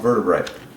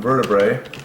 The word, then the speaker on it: vertebra: and there's lots of vertebrae. Well, pretty simple. One rib, Father. Multiple ribs, threes. One vertebrae, one vertebra. That's how you say it.